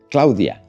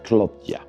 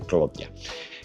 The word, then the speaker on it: Claudja: Claudia, non, non é Claudia, é Cludia. Claudja proudja pronúnciase Cloutia.